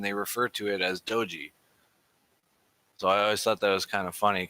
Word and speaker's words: Doge: oh it's doy because of the dog and everything that's Doge sorry not doy Doge Doge Doge so the